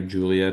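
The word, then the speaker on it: Giulia: Yeah, it's pronounced Yeah, Julia, but it's spelled like Gulia.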